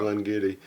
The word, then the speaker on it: Glen Garioch: Glen Garioch. And I was like, so it's spelled this way?